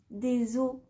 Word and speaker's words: os: généralement pas au pluriel on dira des œufs des beurs des os cela vient d'une tendance issue de l'ancien français qui consistait à ne pas prononcer la consonne finale avant le s au pluriel